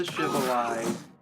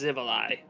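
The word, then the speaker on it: Xivilai: Man, I miss the Shivali. I wish they would bring them back. Or I hope they bring them back, I Zivali. mean. That's Yeah. one I do know the pronunciation of. It's Zivali.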